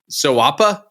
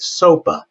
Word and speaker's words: SOAPA: Well, I kind of like sawa, but you know it's like kind rhymes with koala, right?